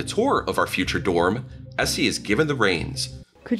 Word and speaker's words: Esi: Essie, it's ESI. And the last name? The last name. Kajana. Say Can you spell that?